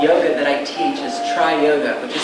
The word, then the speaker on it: Tri-Yoga: And the style of yoga that I teach is tri-yoga, which is spelled T-R-I-Y-O-G-A. So it's not like tri-yoga. It's tri as in three or trinity.